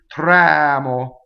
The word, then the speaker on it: tremo: If we have an open vowel before a single consonant, as English speakers, we love to double the next consonant. So it's very easy for us to say tremo. That's why we say tremo, because it's way easier to close the vowel. But it's wrong. It's tremo. You see?